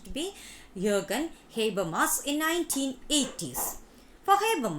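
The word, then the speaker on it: Jürgen Habermas: see the pronunciation yoga jay as most often pronounced to be jurgen habermas in nineteen eighties for hebrew mass the modern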